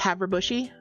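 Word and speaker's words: Havre Boucher: So if you are familiar with French, you would probably have a guess as to how that would be pronounced. It's pronounced Haverbushy.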